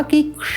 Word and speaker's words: कक्षा: तो यहाँ पर भी क और श, इससे पूर्व र, रक्षा।